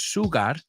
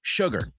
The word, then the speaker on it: sugar: So to put the sugar, y cuidado con la pronunciación, amigos, no es sugar, it's sugar.